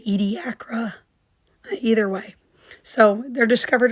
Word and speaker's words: Ediacara: were discovered in Australia's, I say it Ediacara, but the video said it a little bit differently. I don't remember exactly how they pronounced it, but I would say this word Ediacara.